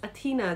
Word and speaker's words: Athena: the goddess of wisdom her name is pronounced as Athena the E is against stressed and then Aries Aries